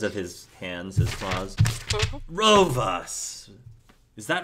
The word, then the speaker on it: Rovas: for him because of his hands his claws Ro us is that right that pronounced that Ro us yes please to meet you says and he